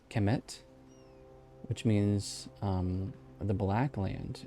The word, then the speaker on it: Kemet: Kemet, or Kemet, I think is how it's actually pronounced. Kemet, which means the Black Land.